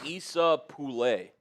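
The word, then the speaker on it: Esa Pole: Oh, it's pronounced Issa Pulle.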